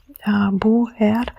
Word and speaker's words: Buer: We have Buer, it's like 2 syllables, Buer, and they both have a consonant and a vocal.